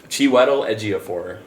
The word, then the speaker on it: Chiwetel Ejiofor: How do you pronounce his name again? Chiwetel Ejiofor. Chiwetel? Yeah. Chiwetel. Man, Chiwetel Ejiofor.